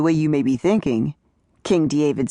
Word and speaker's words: King D. Avid: David Pearson said, pronouncing it king D. Avid, that's a small D. Period. Capital A, small V I D.